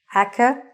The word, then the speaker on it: academic: It is not academic. It is academic. The stress is on the middle.